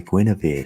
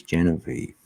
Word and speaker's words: Genevieve: say her name before i read it as gwynevere right for ages and then someone finally told me they went no it's um um yes genevieve oh don't test me